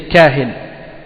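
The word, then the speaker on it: كاهن: Et on dit ça c'est le pluriel, kuhan c'est le pluriel, le singulier c'est kahin, hein? Donc kuhan, kahin, kahin ça s'écrit kaf, alif, ha, hein? Kahin c'est ça, kaf, alif, ha, nun, kahin.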